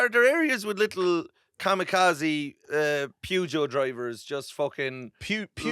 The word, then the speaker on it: Peugeot: Pugo. Is that what? No. Pujo. Pujo. Pug. Pujo. It's the proper uh French pronunciation.